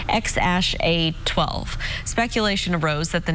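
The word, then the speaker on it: X Æ A-12: his newborn son's name musk announced earlier this month that his baby's name is spelled xae 8:12 musk pronounced ex ash 8:12 speculation arose that the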